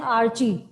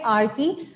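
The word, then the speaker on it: archae: आप प्रीफिक्स पढ़ते हैं आर्की, टर्म पढ़ते हैं आर्की, या बहुत सारे बच्चे इसको प्रोनाउंस करते हैं आर्ची, ठीक है, जो आप प्रोनाउंस करना चाहें, एक्चुअली है आर्की।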